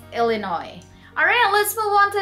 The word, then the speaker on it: Illinois: Not Illinois, okay? There's a silent S, so it's Illinois.